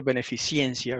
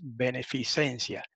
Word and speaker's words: beneficencia: de beneficencia qué proyecto no se dice beneficiencia he escuchado algunos decir beneficiencia es beneficencia aunque no estamos en